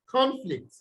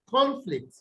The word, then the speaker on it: conflict: on the words okay so here you have conflict conflict then you have conflict conflict okay um here